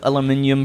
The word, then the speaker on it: aluminium: Also, you once said aluminium pronouncing the second I, which Americans don't do, which at first made me think UK.